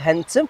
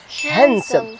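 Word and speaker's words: handsome: ديما يتنطقش ليكيب، ما نقولوش هانتم نقولوا هانسم.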